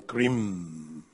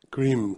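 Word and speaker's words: krim: are pronouncing the mantra cream the mantra in sanskrit cream ca k-r-i-m an easy way to understand is if you like cream just pronounce that word there mentally and then you take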